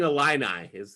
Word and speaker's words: Illini: It's the Fighting Illini.